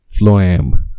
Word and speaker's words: phloem: and what is that one phloem that's right phloem xylem and phloem now you know how to pronounce that so where do you find that